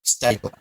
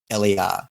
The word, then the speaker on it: Steytler: her name wrong, Georgina Steydler, and I may not even be pronouncing that properly. Steydler, the pencils. No, it's actually Steytler, Georgina Steydler.